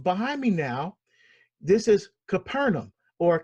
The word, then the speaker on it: Capernaum: for example um behind me now this is Capernaum or kafernaum as it is actually pronounced and this behind me is a place